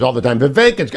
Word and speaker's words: Vivek: all the time the vacant I know it rhymes with cake but Selena had already